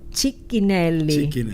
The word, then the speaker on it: Cicchinelli: Bueno, estamos con el fray Marcelo Cicchinelli. Así se pronuncia.